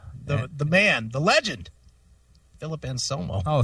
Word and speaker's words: Anselmo: Yes, the man, the legend, Philip Anselmo. Oh, say it right now.